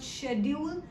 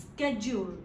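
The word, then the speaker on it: schedule: स्केड्यूल देखिए, एक और प्रोनाउंसिएशन साथ साथ लर्न करेंगे, इट इज नॉट शेड्यूल, इट्स स्केड्यूल, right?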